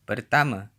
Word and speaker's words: pertama: kereta, Final a is usually pronounced as a schwa in Malay, at least in Malaysia. A couple more examples. Saya, meaning I, is pronounced, saya, and pertama, meaning first, is pronounced. pertama, City.